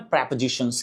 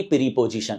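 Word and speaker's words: prepositions: Guys in शब्दों को grammar में प्रेपजीिशंस कहते हैं। उच्चारण प्रपजीिशंस ना कि प्रीपजीिशन।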